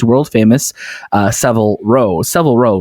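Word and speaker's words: Savile Row: famous uh several row several row right that's how you say it i'm going to say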